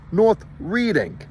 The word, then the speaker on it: North Reading: he says no sweetheart this says North Reading right here should be changed to r e d d iing this is one of